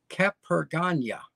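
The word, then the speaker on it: Capurganá: The little seafront town of Capergana. See that little grave over the N? It means it's pronounced like the first N in onion.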